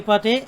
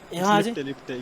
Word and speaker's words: Lipte: Mera आखिरी में, like there's a comment by Shashank Lipate. If I'm pronouncing that right, your surname, don't mind me. He says, Lipte, yeah. It's Lipte, okay, Lipte, my bad.